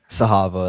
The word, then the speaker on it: Zahava: And so then you say, "My name uh uh Z A Ha Va. I want to make sure I pronounce it right." What What is that character's name? Sahava.